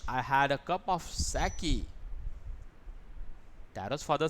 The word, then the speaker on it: sake: Here, sa is pronounced like fa, means father, and k rhymes with a way. So sake.